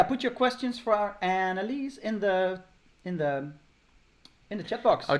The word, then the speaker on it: Annelies: Annelies. Annelies. That's why I'm pronouncing it in the English way.